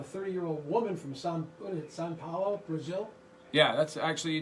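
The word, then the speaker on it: São Paulo: of boston i mean if you just say it right you really may turn the p into a b i can't i have all one big giant vowel except for the b sao paulo okay cool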